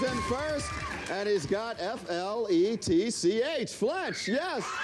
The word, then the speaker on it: Fletch: in two movies and it rhymes with stretch who is this guy go start painting and when you have it gold gold is in first and he's got f-l-e-t-c-h Fletch yes okay